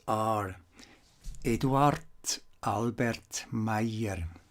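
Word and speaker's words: Meier: names are edward albert meyer not edward not albert edward albert meyer and not mayor mayer the combination here of the e and i here is usually pronounced in german as i may hear now the book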